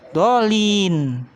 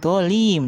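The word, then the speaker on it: الضالين: Terus yang terakhir, dolin. Nun, bukan mim. Kamu bacanya mim, dolim. Jadi salah.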